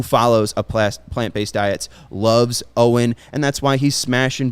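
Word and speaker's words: Owyn: that is on me it says in big yellow letter pronounced like owen o w y n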